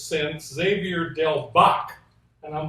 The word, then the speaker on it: Bac: Bach rhymes with what? Clock? I don't know. Rock. Right. Rock, clock.